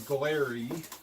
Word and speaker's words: Glarry: of the box so the brand is glarry I guess is how you say it GLA are are why the model is GT